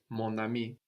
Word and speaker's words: mon ami: very connected so again we liaised there we have more more with a silent n but Mon Ami my friend can wait for